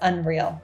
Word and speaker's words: UNRL: The brand is spelled UNRL but it's pronounced UNRL.